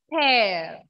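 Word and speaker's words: père: Ma'am, how to pronounce the word father? Pear.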